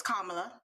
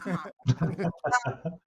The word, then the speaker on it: Kamala: Well, first we have to pronounce her name properly, so it's Kamala, not Kamala.